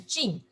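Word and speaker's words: 静: This called in Chinese pronounced as Jing.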